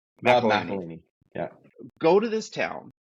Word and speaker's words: McElhenney: I get Rob's last name wrong. McElhenney.